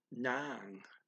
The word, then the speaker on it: ng: In contrast, they also have sa phrases that marks location of the action, and they have nang phrases, which is spelled ng, and that nang phrase is where the object is.